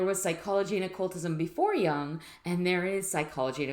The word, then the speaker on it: Jung: mean if there was psychology and occultism before young and there is psychology and occultism after young